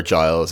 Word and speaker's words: Giles: expel twith at or Giles it's like a lines of miles because there's all these